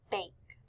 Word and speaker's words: bake: ends in an e this word is bake B A the E is silent like we said so it makes the a say its name so we hear b